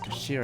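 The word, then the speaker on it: 頭: It's written in head in Japanese, but it's pronounced as Kashira, I believe.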